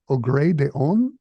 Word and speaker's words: Au gré des ondes: It's a cycle of pieces called Au gré des ondes. Am I saying that right? Yeah, that's good.